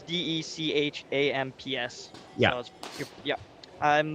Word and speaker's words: Deschamps: Is it like Deschamps? Is that spelled? Oh, maybe. Yeah, it's Dechamps. Yeah. So yeah. I'm butchered that one.